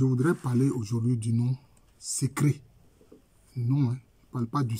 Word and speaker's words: Sekré: c'est sec c'est un c'est un nom en langue tu qui se dit secr c'est comme ça que ça ça se dit la bonne prononciation c'est secr c'est comme ça que